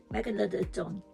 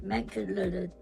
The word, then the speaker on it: Megalodon: Megalodon. No, you've put 2 L's in. Megalodon. Okay, let's go. Meg. Don. Don. That's it. Megalodon.